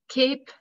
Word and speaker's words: cape: at the end and the e at the end makes the vowel say its name right before it so cape and cap in h we have